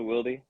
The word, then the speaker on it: Wildy: That's how they got to Wildy. Oh, wow. Uh, Okay. yeah, so like me and my siblings, we all have that E sound at the end of our names.